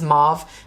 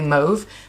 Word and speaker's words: mauve: I think the word is mauve. I think some people pronounce this mauve, but it's technically mauve.